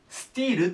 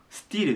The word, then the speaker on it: still: ていうのはここスティールと言いますスティルですで先に書いちゃう